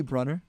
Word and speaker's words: Bruner: You know it's actually Brunner?